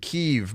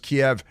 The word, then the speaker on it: Kiev: is in Ukraine right now people keep saying Kiev but it's pronounced Kiev and uh they're giving M1 tanks our top